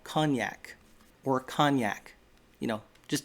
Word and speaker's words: cognac: i think it was the liner he said it's spelled c-o-g-n-a-c and the pronunciation that i looked up according